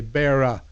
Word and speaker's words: Wilkes-Barre: The truth is, it's named after a guy named Isaac Barry, but it's still pronounced, most of us say Barra, like a Barra, but it's named after